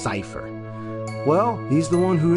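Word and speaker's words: Seifer: You know Cypher? Yeah. I used to call him Cypher, but I didn't realize it's actually pronounced Cypher.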